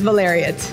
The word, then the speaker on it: Valeriote: And I'm guessing, say your surname for me, because I'm terrible with pronunciation, but I'm sensing Italian blood here. Yes, my last name is Valeriote.